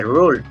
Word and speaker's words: rule: Esta palabra rule no se dice rule, se dice rule.